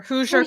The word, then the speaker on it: Hoosier: Hosier? Hoosier carnivore.